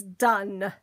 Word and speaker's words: done: Your first spelling word is done. Done. Have you done your English yet? D, sneaky silent E that you don't hear.